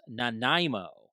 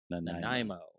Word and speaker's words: Nanaimo: All right, so according to Tom, this is pronounced Nanaimo. Nanaimo.